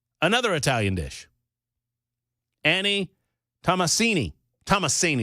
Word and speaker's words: Tomasini: How about Annie Tamasini? Tamasini. Another Italian dish. Annie Tamasini. Tomasini is probably the preferred pronunciation there.